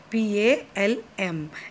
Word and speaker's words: palm: So palm spelling is P-A-L-M. L is silent. So you read palm.